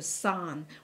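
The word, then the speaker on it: 三: So we have also, you know, when we draw three stroke, in Cantonese we pronounce it as sam. Sam is three. three of the same kind, okay? But some in Mandarin actually changed to san.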